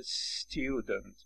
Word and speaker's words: student: اگه میخواید student بگید، همون س که تلفظ میشه بلافاصله پشت سرش ت رو تلفظ بکنید، اولش واکه اضافه نکنید، میشه student sky.